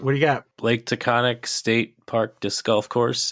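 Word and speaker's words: Taghkanic: But it's not takonic. How do you spell it? So, I was told that it's it is takonic and it's a different perhaps more quote unquote accurate spelling.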